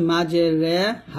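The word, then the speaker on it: مجريها: রাখবেন এটা সূরা হুদে আপনারা পাবেন তাহলে এখানে উচ্চারণ হবে মাঝে রে হা আলিফ জবর হা মাঝে হরে ফেলিফ টান দিবেন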